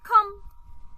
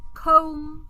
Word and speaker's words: come: Only come doesn't follow this pronunciation. So even though the word come has the O, then consonant, then silent E, but it doesn't follow this rule. So how do we pronounce come? We say come, not comb, for example.